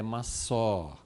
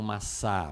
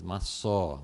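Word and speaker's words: מַשָּׂא: sei exatamente como pronuncia, mas pelo menos o que eu consegui entender é que a sílaba tônica é no fim e que a pronúncia é massó. Não maçá, mas maçó, alguma coisa assim.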